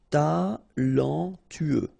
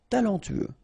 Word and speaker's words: talentueux: Final X not pronounced. Then you get this E, U together. E, then T-U, tueux. Talentueux. Talentueux.